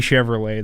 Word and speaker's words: Chevrolet: Louis Chevrolet, the French guy. Silent T?